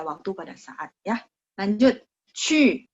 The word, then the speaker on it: 去: Lanjut, 去 ingat Q ketemu U itu bacanya 去. Kok berubah ya? Sebentar, saya hapus dulu, saya tulis ulang. 去 QU. Mulutnya bulat.